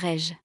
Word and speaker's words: rayon: Ans, a word such as comment is pronounced kma and rayon is pronounced rej.